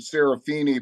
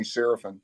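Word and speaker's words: Seraphine: I mean in Chicago they pronounce it Saraphini but he just goes by Danny Sarapin.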